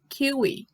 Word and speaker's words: kiwi: Iguaba a jaca Jackson kiwi escreve igual mas se lê keeway laranja ordens igual a